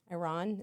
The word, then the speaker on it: Iran: Iran is how you pronounce it.